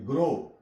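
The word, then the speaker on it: grow: प भी डब्लू आ तक इसकी आवाज ले ग्रो जी आर ओ ओ तक इसकी साउंड लेंगे डब् साइलेंट है य आगे इन स्टैंडर्ड इंग्लिश स्टैंडर्ड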